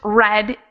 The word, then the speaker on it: read: so the participle and the simple past of the verb read is pronounced red even though it is spelled the same one of the silliest